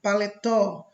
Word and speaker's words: paletó: E aí você pode, para a palavra da letra K, paletó. Paletó, então a palavra sílaba tônica, a sílaba tó, na última posição, ela é uma oxítona.